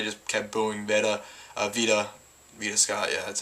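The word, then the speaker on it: Veda Scott: care for they just kept booing vaa Vita Vita Scott yeah that's how pronounced but uh for the most part like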